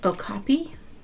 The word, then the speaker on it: okapi: Um So, anyway, I want to start with the one I believe it's pronounced okapi.